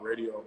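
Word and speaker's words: Raedio: Yeah, spelled like her name, RAEDO, Radio.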